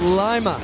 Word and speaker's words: Lima: pass on the announcers that Lima is pron pronounced with a long ey it's Lima not Lima boys we're Canadian about about AB boot what